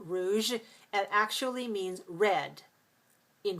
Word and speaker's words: rouge: The word rouge is French for red, like this red stripe. So rouge, we use this j at the end of rouge and garage.